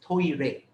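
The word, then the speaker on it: トイレ: in japanese for example the word toilet is pronounced as toire toyrei t-o-i-r-e is the japanese word for toilets when you write the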